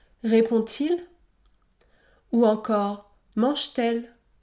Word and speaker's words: mange-t-elle: t répond-t-il ou encore mange-t-elle mange-t-elle le T se prononce t mange-t-elle 8è cas la liaison